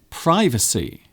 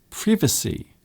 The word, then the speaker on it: privacy: an interesting word because it can be pronounced in more than one way so some people say privacy privacy other people say privacy privacy so here is a word that can be pronounced in more than one way privacy privacy so both pronunciations are correct but what exactly is